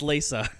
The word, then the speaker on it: Talos Principle: It's pronounced Lisa.